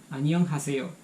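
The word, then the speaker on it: 안녕하세요: Annyeonghaseyo.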